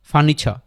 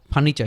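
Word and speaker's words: furniture: উচ্চারিত হয় না তাহলে ফার্নিচার ফার্নিচার শেষে আরটা আস্তে করে ছেড়ে দিব ফার্নিচা ফার্নিচা ফার্নিচা লেকচা তারপরে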